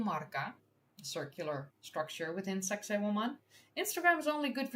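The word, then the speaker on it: Sacsayhuamán: Sacsayhuam. It's indeed a Sacsayhuam. Because, you know, it should be pronounced like a sexy woman.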